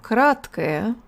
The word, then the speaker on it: краткое: We use schwa, schwa at the ends of adjectives like this.